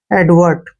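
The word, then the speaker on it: advert: रूप में आ जाएगा एडवर्ट क्या पढ़ेंगे इसको एडवर्ट एडवर्ट होता है ध्यान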